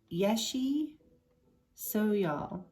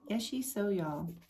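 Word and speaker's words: Yeshe Tsogyal: The supernatural tigress is believed to have been, oh, there's how they say it, Yeshi Soyal, right? Yeshi Soyal, a yogini guardian for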